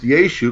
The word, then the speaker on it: Yeshu: So first his name was Yeshu, pronounced Yeshu, because that's how the Aramaic name would have been pronounced.